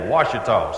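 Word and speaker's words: Ouachita: Now, you really spell it O-U-A-C-H-I-T-A, Washita.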